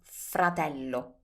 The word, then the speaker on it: fratello: Brother is fratello.